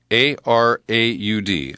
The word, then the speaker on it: Araud: His name is Gerard A-R-A-U-D. Araud is probably how they pronounce it with a French accent.